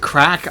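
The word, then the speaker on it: craic: It's it's it's as said they pronounce it crack. I always think of it as like crack. Um but it's like with an Irish accent, it sounds more like crack, which is the joke.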